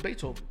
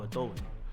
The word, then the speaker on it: Beethoven: Beethoven. Así como lo dicen los dominicanos, Beethoven. ¿Me entiendes? O los hispanos, whatever. Beethoven, con ese acento.